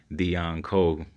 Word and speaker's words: Deon Cole: told that joke and you say his name out loud it actually sound like you're saying the uncle engine and what did you